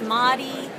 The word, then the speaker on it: Mahdi: version of it's mahdi everyone calls me that you're free to call me that and i make a joke it rhymes with gaudy it rhymes with potty it runs with potty and people say oh